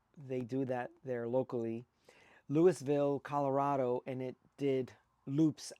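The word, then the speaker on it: Louisville: And this was a cloverleaf event beginning in Lewisville. Make sure you pronounce the S. They do that there locally. Lewisville, Colorado.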